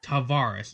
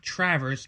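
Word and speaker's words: Tavares: player uh Travers Travaris that's how you actually pronounce his name TR I remember this tavar t a v a r e s Tavaris not Travers t r r a v r s it's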